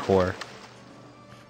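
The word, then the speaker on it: corps: properly I think it's core I think the PS is silent okay cool we got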